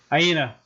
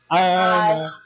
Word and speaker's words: Aina: Aina. Or Aina. It is literally pronounced the way it is spelled. Aina.